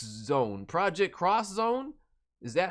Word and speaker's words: Project X Zone: It says X, but it's cross.